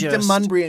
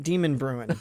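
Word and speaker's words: Demonbreun: Well, because when I first moved there, I pronounced it Demon Bruin. I had no idea how it was pronounced until I heard somebody say it.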